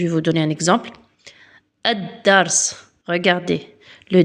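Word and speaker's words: الدرس: Le son de L disparaît et la lettre suivante est doublée avec une shaedda. Regardez là, je vais vous donner un exemple. Adars.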